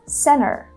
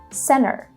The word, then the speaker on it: center: Instead of saying center, which is going to be a little bit more British, or even Santa, right, without pronouncing the letter R, she says center, center. So she drops the T sound completely. It's very common in American English to drop the T sound after the letter N, like in the words